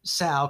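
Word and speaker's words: Sun: my understanding is that the proper pronunciation of that is you say Sal kind of like a like a female pig mother a sow but there's this just the slightest hint of a t right before you say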